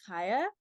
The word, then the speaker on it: Chaya: using but um it's haa so it's Hebrew so it's kind of pronounced with like the like H sound but for people who